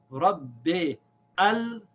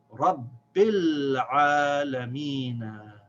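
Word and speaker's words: رب العالمين: So if I say Rabbi al, this is incorrect. I should not pronounce that alif here, this Hamza al-Wasl. It is silent. We don't pronounce it. We say Rabbil Alameen.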